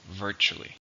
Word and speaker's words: virtually: How many syllables are in virtually? 3. Stress on the first. Virtually.